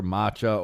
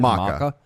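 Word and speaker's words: Macha: to bring up uh the goddess Masha matcha or there's another pronunciation Maka um it's a it's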